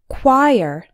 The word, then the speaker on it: choir: group of singers and this small word actually has two syllables the CH o sounds exactly like the qui in quiet and IR sounds like in the words bird or were choir number three epitome if